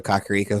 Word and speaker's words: Kakariko: It was nice playing Breath of the Wild, and someone tells you to go to Kakariko Village, and he pronounced it the way that I pronounced it, and I'm like, oh, yay, I didn't screw that one up.